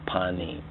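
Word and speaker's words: פנים: And now here's what's very interesting about this word panim or fanim. In the Hebrew they pronounce it panim.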